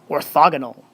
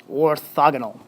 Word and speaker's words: orthogonal: That's how you say it, orthogonal, orthogonal.